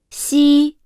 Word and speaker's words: 西: articulate because the tongue does not make contact with the upper palate when pronouncing it. Therefore, when pronouncing 西 it is necessary to quickly control the tongue's surface, maintaining the position and strength of the pronunciation.